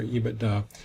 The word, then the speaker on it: EBITDA: I call it EBITDA. It may have other names with people, other pronunciations, but anyway, EBITDA is going to be